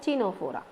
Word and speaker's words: Ctenophora: C is silent, Ctenophora.